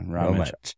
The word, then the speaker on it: Rometsch: And actually, Ben, I should have asked you how to pronounce it correctly. Rometsch. Rometsch is what I want to say. Away. Rometsch. Yes. It's Rometsch. Yeah, Rometsch.